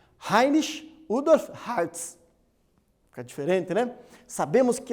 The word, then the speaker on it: Heinrich Rudolf Hertz: O Heinrich Rudolf Hertz, ou como a pronúncia mais próxima do nome dele em alemão, apesar dele ser um austríaco, Heinrich Rudolf Hertz.